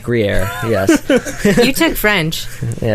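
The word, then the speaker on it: Gruyère: I'm not even sure if I'm pronouncing that correctly. Gruyere, yes.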